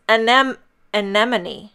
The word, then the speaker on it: anemone: And then I Googled it, and it's anemone.